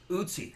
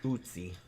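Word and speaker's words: Ötzi: Usy. Usy. That's right. I knew there was some way you pronounced it, but I couldn't think of it.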